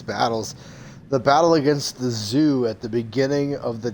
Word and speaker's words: Zu: So I wouldn't have access to that for that fight against the zoo bird, that ZU. It's spelled ZU.